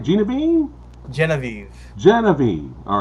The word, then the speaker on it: Genevieve: We're going to be talking about his short film, Genevieve. Did I say it right? Genevieve? Genevieve.